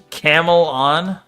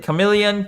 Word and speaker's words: chameleon: What the I had a teacher that pronounced uh it as camelon. Camelan, bro. Camelan. Chamele. Chameleon. Camelan. It's It's not very close.